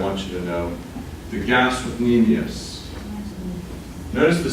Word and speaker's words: gastrocnemius: You don't have to pronounce the C, I'm pronouncing it now, so you know that it's there, so you don't get confused with stomach.